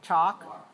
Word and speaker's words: chalk: pronounce it walk right we walk and talk and chalk those all have alk but the l is silent walk walk away aware